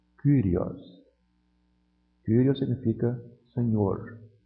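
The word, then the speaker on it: κύριος: Vejam que aqui o Y está isolado. Ele não é parte de um ditongo. Então como é que eu leio essa palavra? Kyrios. Kyrios.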